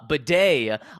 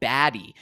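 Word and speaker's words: Badie: we we have uh or uh Beday on record literally there's a video of him from last year saying oh yeah my name's pronounced uh uh because some people were calling him baddy and he was like no it's well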